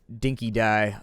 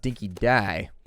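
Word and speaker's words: dinky-di: Apparently, it's pronounced dinky dye.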